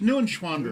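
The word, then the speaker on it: Neuenschwander: far as we know it's new in schwander you'd have to ask a german person for the right pronunciation we got a german person in the other room i'm german yeah it's new and schwander new and schwander yes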